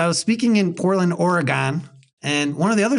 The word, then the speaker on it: Oregon: and by the way when I say Oregon people in Oregon get they they winse because you're not supposed to say it like that the midwestern way of Oregon it's supposed to be like Oregon or some Backwoods way of saying it I say Oregon that's just how I say it okay and they